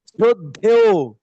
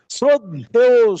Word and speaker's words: শ্রদ্ধেয়: শ্রদ্ধেয় লেখা আছে শ্রদ্ধে, কিন্তু উচ্চারণ হবে শ্রদ্ধেয় সুধী।